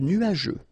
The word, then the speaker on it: nuageux: Remember, final X here, not pronounced. Nuageux, okay?